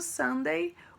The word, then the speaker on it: Sunday: de r e domingo sunday oo fica com som de ar sunday muito bem vamos lá